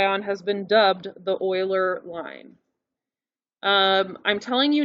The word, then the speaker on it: Euler: not pronounce this wrong it is literally pronounced euler i'm gonna write this in uh quotes euler's how you pronounce it the same diet guy